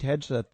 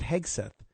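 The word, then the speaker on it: Hegseth: popped up because uh Pete Hedge or is it Hegsth? I think it's Hegsth. Uh it looks weird when I uh read it and then say it like Heg. I'm a hard G guy.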